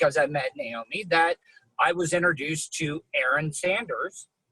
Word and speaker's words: Naome: Well, it is even more unique because it's spelled phonetically. And for those of you who don't know what that means you sound it out, Naome.